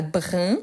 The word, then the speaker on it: brun: mots donnés on a brin donc attention à la prononciation pourquoi brin le féminin brune brune donc